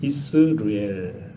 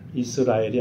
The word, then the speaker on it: 이스르엘: 저의 이름이 순서대로 이야기하면 이스르엘 이스라엘이 아닙니다 이 쓰기에 발음을 잘 해야 됩니다 이스라엘 라고 하는 이름